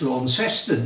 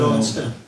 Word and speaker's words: Launceston: off straight away and told to pronounce it properly. It's Launceston, they said. But I refused to say that. I was in Launceston.